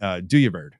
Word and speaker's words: Dooyeweerd: r m- an and du is a Dutch name it's d o o y we ER D so it's spelled kind of like do ye weird but do is the way that you say it um at least the best way I could say it not being Dutch um so we're going